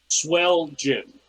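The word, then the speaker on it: Swelgin: swell gin, like Swelgen.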